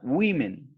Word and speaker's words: women: woman es el singular y el plural se escribe así pero se pronuncia women listo para que lo